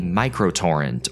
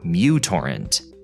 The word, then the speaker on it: µTorrent: Or technically, MicroTorrent, or µTorrent, the name of the letter in the Greek alphabet. But because this letter at the beginning of the word resembles a U, people just started calling it that.